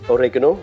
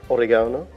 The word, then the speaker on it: oregano: sweet paprika teaspoon of oregano or oregano depending on how you like to pronounce it and a little scrape